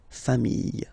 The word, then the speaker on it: familles: the plural form, les familles, okay? Remember, chien, singular form, chien, same pronunciation, but you put this S, okay? Final S, not pronounced. Famille, singular form, famille, plural form, same pronunciation, S, not pronounced.